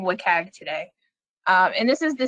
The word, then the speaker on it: WCAG: web content accessibility guidelines it's usually pronounced so we're going to be saying wikag today and this is